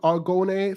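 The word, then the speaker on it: Argonne: actually you ready I I pronounce it all gone a so it's a-r-g-o-n-n-e foreign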